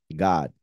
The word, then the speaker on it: גד: And even though one may say, but God is with an O, this is with an A, remember that, first of all, the pronunciation is exactly the same, God. And in Hebrew, the vowel is not there. It's just the G and the D. So it will be exactly the same.